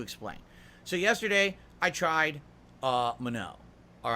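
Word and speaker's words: Manon: That's how you pronounce her name. That's how the game says it. It says Mano. So now I know it's Mano.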